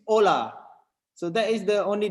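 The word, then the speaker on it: olá: spanish it's holla and in portuguese it's ola so that is the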